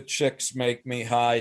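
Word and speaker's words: Csikszentmihalyi: It is like the chicks make me high dude describes flow. Chick That, sent McCallie no, I met him. McCallie. He told me this is how I pronounce my name. Chicks make me high.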